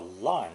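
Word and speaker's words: 吏: addition of an horizontal line at the top of this character we have the title of a minor government official in former times pronounced fourth tone li li as it's not very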